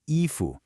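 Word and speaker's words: 衣服: And finally, efu, a high first tone and a rising second.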